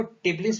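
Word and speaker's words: Tbilisi: Georgia का, इसको टिबलिस भी पढ़ सकते हैं और बिलिस भी पढ़ सकते हैं, तो ध्यान दीजिएगा, टी कभी साइलेंट रहता है, कभी कुछ लोग यूज करते हैं इसका।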